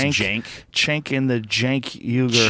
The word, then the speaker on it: Cenk: I think it's pronounced Cenk.